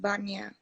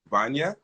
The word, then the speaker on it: Wanja: So you go by Wanja, correct? No, No. What should I call you then? it's not how you pronounce it. It's pronounced Banya. Vanya?